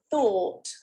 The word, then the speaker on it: thought: one vowel sound chords another one that's very similar is thought again people tend to make this into a diphthong because they're getting influenced by the spelling and they